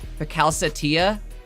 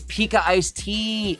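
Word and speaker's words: PikaIcedTea: Bro, it's Pika Iced Tea.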